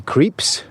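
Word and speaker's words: Krieps: young woman played by a luxembourg native vicky creeps didn't know how to pronounce her surname until paul told me in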